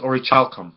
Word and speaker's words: orichalcum: mythical metal known as or a child come i believe is the print excuse me the correct pronunciation of it so this metal is